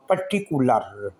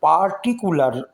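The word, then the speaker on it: particular: फॉर अ पर्टिकुलर, ये PART part word है, लेकिन जब इसको यहाँ पर पढ़ेंगे तो इसको पार्टिकुलर नहीं बोलेंगे, बल्कि इसको बोलेंगे पर्टिकुलर। ए यहाँ पर साइलेंट रहेगा।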